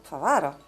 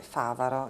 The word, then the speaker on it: Favaro: Quando io ho letto il tuo cognome la prima volta ho pensato Favaro, perché sono friulana e quindi mi è proprio uscito spontaneo di leggerlo con l'accento sulla seconda A, Favaro. Poi però, considerando che tu hai origini venete, Favaro, giusto?